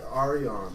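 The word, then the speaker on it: Aurion: Oh, Arion, like Yeah. like gold.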